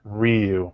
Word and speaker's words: Ryu: Pronounced Ryu.